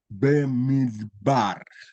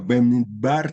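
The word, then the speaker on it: במדבר: En el texto que aparece al comienzo del libro de Números, los masoretas han puntualizado las vocales para que se lea Bemidbar, ¿no es cierto? Bemidbar Sinai.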